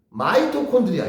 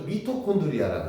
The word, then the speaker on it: 마이토콘드리아: 그 다음에 마이토콘드리아, 요것도 바뀌었네. 옛날엔 이것도 미토콘드리아라 그랬어. 근데 영어 발음으로는 MI야, MI. MI 직역하면 보통 MI 하면 미잖아. 근데 마이로 읽나봐, 영어 원어 발음이.